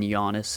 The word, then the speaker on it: Giannis: silence like Giannis obviously the G in Giannis is silent with how you pronounce it I feel like